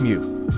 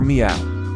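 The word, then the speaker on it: miu: In ancient Egypt, the word for cat was actually pronounced mew, or meow.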